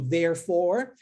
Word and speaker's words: therefore: no início das palavras, com a pronúncia do TH vozeada. Aqui acontece a mesma coisa, ó.